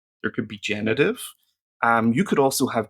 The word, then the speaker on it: Genitiv: go into the genitive genitive is that why am I pronouncing it with a French accent should be a nice German accent genitive and let me just